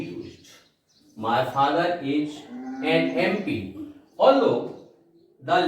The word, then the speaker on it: MP: My father is an MP. Although the letter is a consonant, that is N, yet I have used article N because when we pronounce this letter M, the sound begins with a vowel A, and that's why we